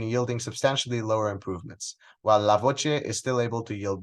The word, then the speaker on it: LA-VocE: speech enhancements entitled lavoce it's pronounced lavoce which means the voice in Italian engineer foreign my name